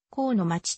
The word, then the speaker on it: 国府祭: を公祭お待ちとして高の街と読む日本の記載によれば